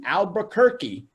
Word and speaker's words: Albuquerque: is the word that I chop up, the Albuquerque Hispano Chamber of Commerce. Her topic today is planning, marketing, and networking. Shannon Jacks, are you out there, girl? I am, and you actually got Albuquerque right, but the last name is Hawkes.